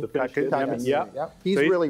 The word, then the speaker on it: Kotkaniemi: You pronounce them. Jesperi, Kotkaniemi. Kotkaniemi, yeah.